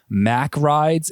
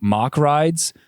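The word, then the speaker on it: Mack Rides: Like the last episode 8, I was saying Mac Rides, and it's actually Mock Rides. So my bad on that. I don't know why I did that, because I've definitely heard people say Mock Rides all the time, but simple mistake.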